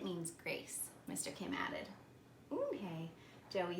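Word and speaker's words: 은혜: "Yes, it's pronounced Eunhae. And it means grace," Mr. Kim added. "Eunhae," Joey said slowly, and this time perfectly.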